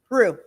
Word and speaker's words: Rue: have uh Renee Rue is it is that how you say it did you just say your last name Rue Rue okay yeah um I'm also a